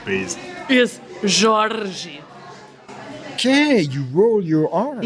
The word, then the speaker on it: Jorge: But you can still see the way they pronounce the S, the way they pronounce the X, the way they pronounce the R. It's Jorge. It's like there's this lightness Okay. to the end of the syllables.